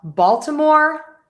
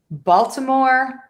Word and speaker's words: Baltimore: Now we have Baltimore Ravens. Baltimore Ravens. So, we're going to stress the ball. Baltimore Raven. So stressing syllable number one in both of these words.